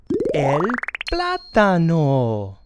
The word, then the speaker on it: el plátano: It's called el plátano.